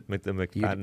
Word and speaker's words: McFadden: Did I say the McFadden?